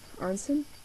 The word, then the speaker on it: Arenson: called song of dragons and it's by daniel arnson i that's how you pronounce it here is the cover oops there